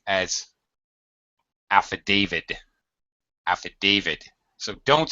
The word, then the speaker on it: affidavit: Often mispronounced as affidavit. Affidavit. So don't say affidavit. Okay, that's not correct. Rebecca, how should it be pronounced? Do you think? Hello, Rebecca? Sorry, yeah, I forgot the microphone. Affidavit.